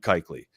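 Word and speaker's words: Kuechly: Erlacer, Levante David, Luke Keley. Um, and then Derell Rivas, uh, or Keequley. Keley, I think it's Keeley. Um actually I'll tell you right now it is it is in German it's Keeley. Yeah.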